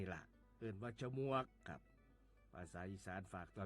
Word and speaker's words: ฉมวก: คำ ว่า ฉมวก ฉมวก เขียน ฉ ชิง หมอ ม่า ว แหวน ก ไก่ ร่วม กัน แล้ว อ่าน ว่า ฉมวก ครับ ฉมวก ที่ เป็น